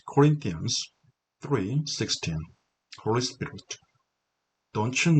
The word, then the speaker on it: Corinthians: Corinthians, TH 사운드는요, 일명 번데기 발음이라고 하는 TH 사운드, 고맙습니다 할 때, 고마워할 때, thanks 할 때 이 사운드가 되겠죠. TH 번데기 발음. 그래서 Corinthians, 강세는 Corinthians, rain이 있죠.